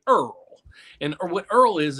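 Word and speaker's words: IRRRL: worry about that because you can do what's called uh i r r l we pronounce it Earl and or what Earl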